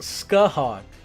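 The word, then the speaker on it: Scáthach: Her name is pronounced Scathách.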